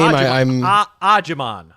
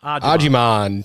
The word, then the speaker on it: Agyemang: Agyemang. Agyemang. 10 goals, 3 assists. Don't look at the last name. The last name throws you off. It's Agyemang.